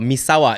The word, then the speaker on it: Misawa: that's right maawa maawa the Americans say maawa Misawa is more like Japanese and Al moishi is